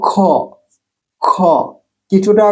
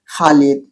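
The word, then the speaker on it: خ: গাড়ের কাছে গাড়ের এর কাছে গলার উপরের অংশ উচ্চারণ খটা গড়গড় কিছুটা গড়গড় শব্দ এটা হা থেকে ভিন্ন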